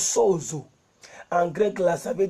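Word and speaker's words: σώζω: Ça veut dire, en grec, ça se prononce sozo.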